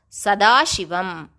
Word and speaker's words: Sadashivam: The right way to pronounce Sadashiva is to end it with an shabdam as Sadashivam.